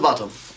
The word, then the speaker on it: Botham: Little Bottom, sir, but it's spelt Botham. And it's pronounced Bottom.